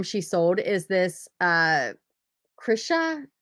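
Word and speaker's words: Chrisha: sold is this uh krisha c-h-r-i-s-h-a chris uh i think that's how you pronounce it playful plush white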